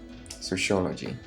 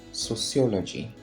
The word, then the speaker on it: sociology: Sociology. But the actual way to pronounce this is sociology. Sociology, not sociology. Sociology.